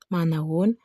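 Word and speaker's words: Manahoana: Manaon, which is written like this but pronounced Manaon, means hello.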